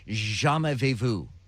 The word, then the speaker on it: jamais vu: So the opposite of deja vu is a thing called jamais vu. Hang on. I had to get the pronunciation guide on this.